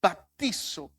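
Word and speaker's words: βαπτίζω: palabra griega que que dice o o se pronuncia baptizo esta palabra significa sumergir o teñir baptizo por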